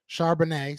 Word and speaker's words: Charbonnet: So Charbonnet.